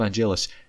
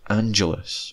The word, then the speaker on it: Angelus: In these earlier seasons they pronounce it as Angelus, only changing to say Angelus once Angel's own show starts up.